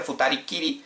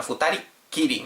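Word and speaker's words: 二人きり: Aquí es muy interesante porque no se dice futari kiri sino futari kiri. Meti unu pequeño, como estáis viendo escrita en la frase, futari kiri. Es de pronunciación. Realmente sería futari. Solo simplemente se añade el kiri siempre detrás de la palabra. Pero aquí por pronunciación cuando se dice una persona jitori o dos futari normalmente se pone el su pequeño.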